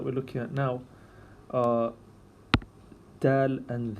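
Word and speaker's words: د: It's like a slide and then back and then a slight jump like that. Dal. So pronounce this Dal. And I'm going to write this with a small d because there's another letter later on that is a stronger sound of the D sound. This is a lighter sound.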